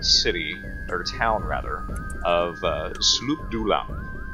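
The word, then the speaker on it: Sloobludop: And they came to the Kuatoa city, or town rather, of Sloop Dulam. It's the first time I've ever pronounced that correctly.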